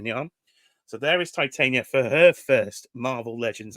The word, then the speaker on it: Titania: Get your pronunciations. Titania.